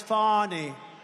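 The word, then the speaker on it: Fani: have to pronounce it fonny it's called Fanny you have to pronounce fonny I don't know how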